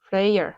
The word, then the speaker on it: Freyr: oh yeah, and also Frrreeeeyyyyrrr. how you spell it? freyr. but you know, people call him Frey because it's hard to say that last R apparently.